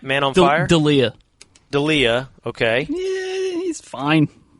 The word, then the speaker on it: D'Elia: D'Elia.